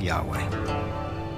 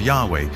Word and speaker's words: Yahweh: And his name was these four letters, which in English would be YHWH, which we think were probably pronounced something like Yahweh.